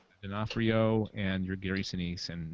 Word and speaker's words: D'Onofrio: But you had your Vincent, how do you pronounce his last name? D'Onofrio, and your Gary Sinise and Madeline Stowe.